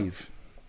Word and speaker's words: Niamh: Neve.